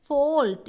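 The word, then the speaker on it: fault: फोल्ट, इसको क्या पढ़ते हैं, फोल्ट, है ना।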